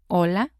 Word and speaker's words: hola: key differences in Spanish the H is silent like in hola it's not hola like in English and then we have